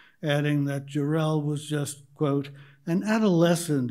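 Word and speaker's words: Jarrell: broke out behind me over the correct pronunciation of Randall Darrell's last name Wilson burst out with accent on the last syllable adding that jerel was just quote an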